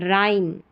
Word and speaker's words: rhyme: यहाँ पर H silent है।